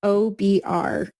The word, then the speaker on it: Obrotka: It's Obrotka.